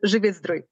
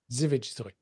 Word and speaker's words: Żywiec Zdrój: I can't pronounce it. Yeah, it's a Żywiec Zdrój. Żywiec Zdrój.